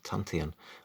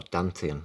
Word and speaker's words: Dantian: This also includes the Tantian, or Dantian, as I usually pronounce it. It's often spelt with a D, and I've often heard it pronounced with a D as well.